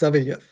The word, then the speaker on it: Sawielijew: It's Sawielijew.